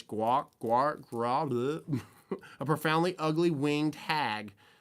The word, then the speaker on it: Gwrach: I don't even know how to pronounce this. It's like Gwrach, a profoundly ugly winged hag.